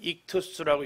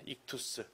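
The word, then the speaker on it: ΙΧΘΥΣ: 여기 있는 이 글자를 읽어보면 익투스라고 읽습니다. 익투스.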